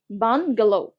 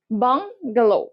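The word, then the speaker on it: bungalow: বান মনে রাখবা, প্রথমে বান, তারপরে গেল, গেল, এভাবে উচ্চারণ করবা, বান গেল, বান গেল।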